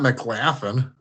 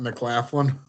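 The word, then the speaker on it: McLaughlin: MC laughing mlin mlin mlin not m not M laughing that's how it looks that's how a a come on Ashley as the free agent don't don't laugh at MCL mcclaflin no I think that's a solid backup point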